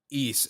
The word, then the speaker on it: Ys: It's I have like a bit of a weird history with the East. That's what you pronounce it, right? East? Yeah, East.